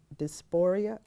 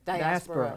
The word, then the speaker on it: diaspora: another one um uh Africans in dysphoria Africans in the diaspora see I'm thank you so much for say the word again diaspora okay you know I was saying it wrong um can you tell